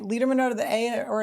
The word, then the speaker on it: Lederman: Letterman? Lederman. Lederman would have an A. Lederman would have an A or an I.